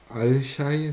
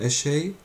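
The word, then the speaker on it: الشاي: Das Lam wird assimiliert. Man sagt nicht Al-Shay, sondern Eshay.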